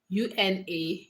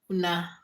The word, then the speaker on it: una: I said ona. UNA. Una. Pronounced as una.